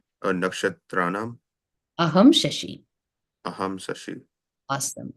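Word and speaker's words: नक्षत्राणाम्: So the second N is like ana. It's not like na, it's ana. So Nakshatranam aham Shashi. A subtle difference in the pronunciation. Nakshatranaham Aham Sasi. Let's do just Nakshatranam.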